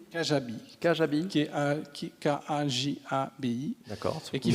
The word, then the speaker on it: Kajabi: Comment ça s'écrit? Kajabi.